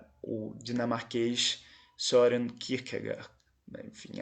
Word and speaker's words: Kierkegaard: foi o dinamarquês Søren Kierkegaard. Enfim, a pronúncia não é essa, mas como nós falamos em português, o Kierkegaard, o famoso Kierkegaard, né?